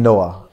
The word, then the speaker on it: Nouah: so hence the name Noah and my Noah is not even spelled like the regular Bible Noah which is n o ah it's n o u ah H Okay so that probably